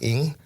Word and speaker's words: Ng: And then, so the last name should be, the Chinese spelling is Ng or pronounced Ing.